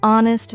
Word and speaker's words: honest: For example, in words like no, the K is silent, honest, the H is silent, and castle, the T is silent.